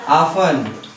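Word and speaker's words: often: प्रयोग इसका भाषा में क्या प्रयोग करते हैं ऑफन क्या प्रयोग करते हैं यदि हम ऑफेन का यूज़ प्रोनाउंसिएशन करें उच्चारण यदि हम बोले तो तुम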